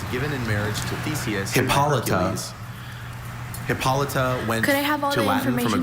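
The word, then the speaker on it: Hippolyta: Hippolita went to Latin from a Greek name. Sure. In DC is the mother queen of the Amazon in marriage to thesis by Hercules. Hippolita went to Latin from a Greek name Hippolita.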